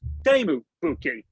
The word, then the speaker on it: Teemu Pukki: So my understanding, your name is pronounced Teemu Pukki.